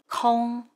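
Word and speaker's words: 空: a role kong when it means empty it's pronounced kong or the when it means air or sky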